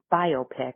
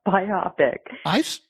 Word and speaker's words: biopic: Um, it's Saturday morning now instead of Friday morning and I was informed last night by Jason that it's biopic, not biopic.